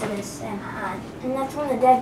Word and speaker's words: Samhain: It was called Samhain, but people pronounce it as Samhain.